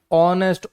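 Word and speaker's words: honest: ऑनेस्ट honour honorary सब में H silent है।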